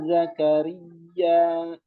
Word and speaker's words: Zakaria: Nah, cara bacanya ya itu kan bertasydid. Usahakan ditekan ya. Ya Zakaria. Zakaria. Ya nggak bertasydid.